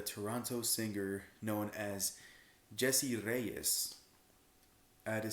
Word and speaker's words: Reyez: Yeah, I roll the R's because I'm sexy like that. Anyways, but it's by Jessie Reyez, and the EP is called Kiddo.